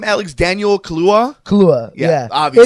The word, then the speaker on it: Kaluuya: Kaluuya, yeah. Obviously. It's a lot easier to pronounce, I think, than it looks.